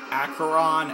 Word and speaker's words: Acheron: Yes, it's pronounced Acheron and Charon.